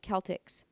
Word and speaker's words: Celtx: One is called CELTX, which I believe is pronounced Celtics.